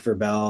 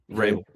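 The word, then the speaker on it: Vrabel: do I think the head coach um Mike Verbell like Verbal I can't pronounce his last name Rabel do I think that he convinced them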